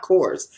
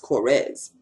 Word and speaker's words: Korres: this is my korres it's not coarse i found out that it's pronounced cores corres lipliner and he's